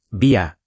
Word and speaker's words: vía: Último tip de pronunciación útil, andén con acento en den, y vía con la I fuerte, vía.